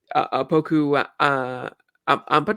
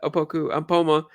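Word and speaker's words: Opoku Ampomah: Um, Poku Ampadu, who was his name? I think it was, or I forget exactly how to pronounce his Yeah. name. And Uh, Poma. Ampoma. Okay, that was one. The Opoku Ampoma.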